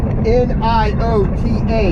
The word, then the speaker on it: Niota: In about an hour, we're going to stop in Niota, Tennessee. N-I-O-T-A, Niota. Or Niota, or pronounce it. My Baltimore way of pronouncing thing, I will say Niota.